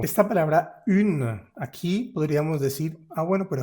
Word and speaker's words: une: Resulta que esta palabra la vamos a separar como une. Tiene digamos que dos sílabas. Une se puede separar. Y al separarla, la U queda en un lado y la N queda en otro lado. Entonces se rompe esa vocal nasal. Ya no podemos decir como an o sino que queda U por un lado y ne por el otro.